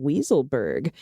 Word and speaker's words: Weisselberg: nation last week and they referred to alan weiselberg as alan weaselberg i like it i thought that pronunciation more accurately reflects the actual person who is the cfo of the trump crime organization and with respect suggests you might want to adopt the pronunciation as well i like it i